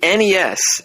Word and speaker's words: NES: I really hope you call it the NES and not the Nest.